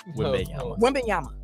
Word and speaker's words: Wembanyama: Wembanyama. Boogie Oogie. It's once I figured out where the spaces come in between the letters, it was easier to say.